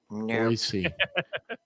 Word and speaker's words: Boise: Boise, not Boise. It's no, Boise. I said Boise. He did say Boise. He said it right. Yeah, I know he did. But a lot of people will sit there and go call it Boise, and you're like, oh no, you're not a local.